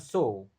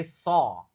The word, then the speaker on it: saw: Ingat kalau a ketemu w cara bacanya bukan so tapi soah hukum juga sama kan law cara bacanya lo harus bisa belajar mengucapkan kata-kata dengan benar.